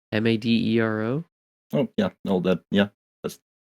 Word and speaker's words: Madero: Will Madero, Madero. Oh yeah, that's pronunciation.